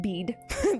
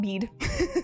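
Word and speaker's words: Bede: monk and historian called I believe you pronounce it bead b who wrote of Gilly which is essentially Ule.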